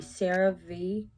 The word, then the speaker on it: CeraVe: Other products that I've used that have helped are the Cerave, that's how you pronounce it.